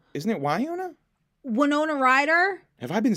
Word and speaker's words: Winona Ryder: try this all together wona that sounds so I've definitely been saying it wrong it's Winona Rider what wona Winona wona